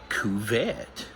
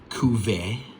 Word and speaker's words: Cuvert: Cuvert, I believe is how it's said. I think the T is silent.